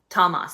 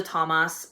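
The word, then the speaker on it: Tomás: Thomas, that is his name. That's the Irish way of saying it, But anyway, so she's engaged to Thomas, and Thomas, it has been their best friend for a really long time.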